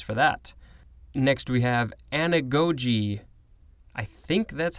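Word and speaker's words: anagoge: seen this before and maybe i've pronounced it anagagi or anagri who knows but i think it's it's saying anagogi is correct this is a noun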